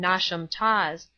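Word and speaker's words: Knotacentinum Towers: place on and around Nat a sentinum Towers pronounced as if written nasham Tas the seat of the Lord nent pronounced as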